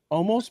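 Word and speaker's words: Olmos: m o s and then B almost s-i-n almost Park yes no they were just pronouncing it wrong no there's a story behind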